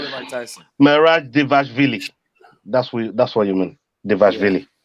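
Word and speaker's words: Dvalishvili: Devashvili. Oh, okay. All right. This guy. You're back because you can pronounce a Russian name.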